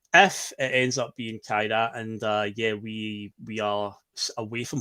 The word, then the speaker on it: Kairat: I believe it's pronounced like Kairat, Kairat, but they won 1-0.